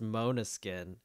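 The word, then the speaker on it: Måneskin: Mana skin but the the accent on the a I think it actually makes it Mona skin okay yes I know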